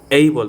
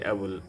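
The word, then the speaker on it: able: এইবল নট অ্যাবল, এইবল, আই এম এইবল to help him, আমি তাকে সাহায্য করার জন্য সক্ষম।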